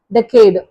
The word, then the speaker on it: decade: இந்த ஃபர்ஸ்ட் வேர்டை வந்து நம்ம எப்படி ப்ரொனவுன்ஸ் பண்ணணும் அப்படின்னு சொன்னால் டெக்கேடு, டெக்கேடு. ஸோ இதோட மீனிங் என்ன அப்படின்னு சொன்னால் a period of 10 years, 10 வருட காலம்.